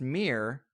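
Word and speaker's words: Mihr: they believe, to venerate, I believe it's pronounced Mir, M-I-H-R, but that's the sun god in Armenian mythology, which is most heavily influenced by Zoroastrianism.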